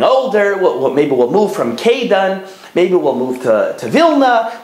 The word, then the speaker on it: Kaidan: they lived in a city in Lithuania called Kaidan. It's spelled in English like K-A-I-D-A-N.